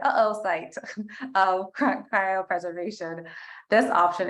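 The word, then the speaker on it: oocyte: off fight thought site I'm pretty sure I didn't pronounce that right even though it's pronounced there oh site oh cryo preservation this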